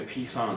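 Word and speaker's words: psoas: the next one is the piece on it's pronounced so a psychoactive like so major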